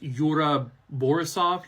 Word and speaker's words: Yura Borisov: kind of attention I believe his name is pronounced Yura borisov he plays a character eigor now his role